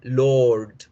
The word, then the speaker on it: Lord: No debemos pronunciar la R dura. Lord, Lord.